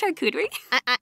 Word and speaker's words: charcuterie: It's pronounced charcuterie.